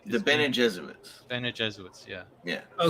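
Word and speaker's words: Bene Gesserit: Yeah, the Beaner Jesuits. They No, that's the name, dude. Why are you laughing? Is it? Is it really? Well, no, the proper pronunciation the is Bene Jesuits.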